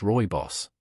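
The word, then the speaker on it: Rooibos: Then it's time you discovered the hidden power of Rohi's tea, pronounced Roy Boss, this naturally sweet caffeine-free tea from South Africa is often overlooked.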